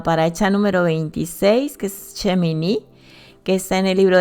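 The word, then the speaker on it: שמיני: Bueno, pues vamos a la paracha número 26, que es Shemini, que está en el libro de Levítico 9:1 al capítulo 11:47. Amén. Shemini, que algunos pronuncian Shemini sin acento, significa octavo.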